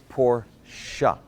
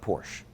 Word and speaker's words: Porsche: now while we're on the subject it's actually pronounced Porsche up say it after me poor siya it's not Porsche there you go this pronunciation lessons been brought